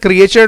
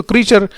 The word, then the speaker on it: creature: इसको पढ़ते हैं क्रिएचर नहीं, बहुत से बच्चे क्रिएचर पढ़ते हैं, इसको क्रीचर इसका सही प्रोनाउंसिएशन है।